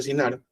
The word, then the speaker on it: Shinar: Fue en esta tierra de Shinar, se le escribe, se pronuncia Shinar, que la ciudad se llegó a conocer más tarde como Babilonia y que posteriormente como Mesopotamia.